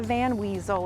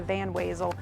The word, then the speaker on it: Van Wezel: It's not the Van Weasel, it is the Van Wezel, but you can also call it the Purple Cow.